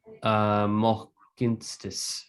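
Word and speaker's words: Mohkínstsis: write that on the screen too. For actually, I should write that so it's clear. Mohkinstis. I am from Calgary. That's how you say it.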